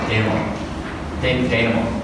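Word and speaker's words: dénouement: How do I pronounce it? Denouement.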